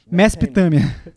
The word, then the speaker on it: Mesopotâmia: Spurgeon disse que Murray foi o único homem que ele conheceu quem poderia pronunciar a palavra Mesopotâmia em 2 sílabas, Mesopotâmia.